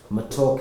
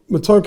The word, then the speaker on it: matoke: and it's like, your matoke, is it called matoke? I think he's doing it with a bit of a British accent. How do you pronounce it? Matoke. Matoke. Yes, something like Matoke.